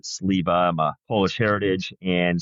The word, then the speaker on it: Sliwa: He pronounces it Sliwa, but I've always pronounced it Sliwa.